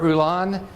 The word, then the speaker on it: Rulon: We're going to have a presentation by Bart Rulon. Pronounced right?